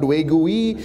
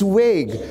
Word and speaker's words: vague: Every time you see a word ending with ue, the ue is silent. You don't say tongue-y. It is tongue. It is not vague-y. It's vague." So now the guy looks